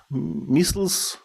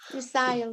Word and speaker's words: missile: how you pronounce missiles missiles missile cycle well american english we say missile british english they say missile dismissal okay let's let's